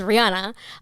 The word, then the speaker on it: Ryanna: I'm like my white pronunciation is Ryanna.